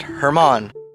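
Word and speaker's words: Germán: Uh, my first name is Hermon, spelled German. However, everybody gets it wrong. It's pronounced Hermon.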